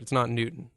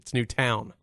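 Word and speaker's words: Newtown: It's not Newton. I always spelled it Newton. I thought of Fig Newton. It's New Town.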